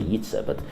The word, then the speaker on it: Jitse: Yeah, because it's almost maybe in Latvian they say Jitse. Yeah, in Dutch they say Jitse, but English and some